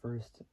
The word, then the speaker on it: Furst: It's not like the number, like number one and an ST. But First, which is spelled Furst, born July 4th, 1978.